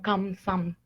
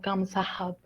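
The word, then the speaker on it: 감사합니다: Lo que es la pronunciación con esta No pasa que la pronunciación viene siendo específicamente como Kamsam, no es como Kamsahab, ¿saben?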